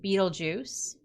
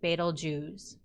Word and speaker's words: Betelgeuse: in some way but most of them say that this is pronounced more like betel jews j-o-o-z kind of sounding at the end so betelgeuse here is the red